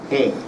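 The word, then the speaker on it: AJE: But here comes a company from Peru called AGE, A-J-E. They pronounce J as A, Spanish. AGE.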